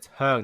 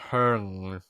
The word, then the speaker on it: Hung: It's Hung, not Hern.